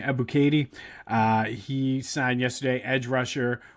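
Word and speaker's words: Ebiketie: Arnold Ebuke- Ebuketie, I think is how you say his name, Ebuketie.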